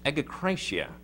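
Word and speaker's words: ἐγκράτεια: It's egokratia. It's, the beginning reminds us, of course, of that nominative pronoun ego, I.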